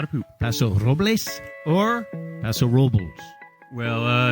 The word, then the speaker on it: Paso Robles: Paso Robles or Paso Robles? Well, if you're a local, you say Paso Robles, but that is not the correct way to say it.